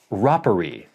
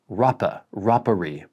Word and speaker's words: Rapparee: Then we have quite a bit of feedback from last week's first impressions video for Rattray's Red Rapparee. First from @Jan-U-We-Hilger-8073. Rapparee, as in Papa. Rapparee, Papa.